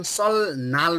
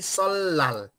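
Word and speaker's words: 설날: भनेर यसरी हेर्नुहोस् त सल्लाल यसको उच्चारण सल नाल होइन कि सल्लाल किनकि के छ त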